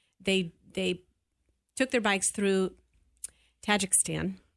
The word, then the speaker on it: Tajikistan: They took their bikes through Tajikistan. Am I saying it correctly? Well, Tajikistan. Tajikistan. Okay, that sounds better.